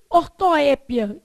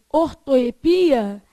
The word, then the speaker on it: ortoépia: Então, prosódia ou silabada trata-se do deslocamento inadequado da sílaba tônica. De uma palavra. E ortoépia, que também se pode dizer ortoepia, é um erro de grafia impulsionado pela pronúncia.